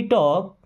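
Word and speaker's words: talk: Okay, let मी टॉक, late means दो, मी means मुझे, टॉक means होता है बात करना और एल साइलेंट है।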